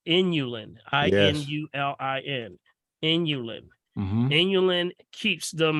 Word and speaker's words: inulin: the things that have this this element called inulin i-n-u-l-i-n inulin inulin keeps them moist keeps the